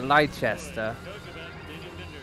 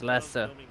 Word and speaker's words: Lester: like an American here liester is it actually Lester is that how it's pronounced yeah it's Lester actually love it here